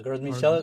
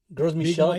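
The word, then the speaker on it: Gros Michel: You mentioned the Well, let me make sure I'm pronouncing it correctly. The Is it the Gross Michel? Yeah, Gross Michel, Big Mike. Gross Michel because it's is is is French, but there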